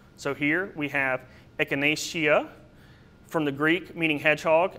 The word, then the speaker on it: echinacea: If the last syllable consists of two vowels or seems naturally short, you stress the third to last syllable. So here we have echinacea, from the Greek meaning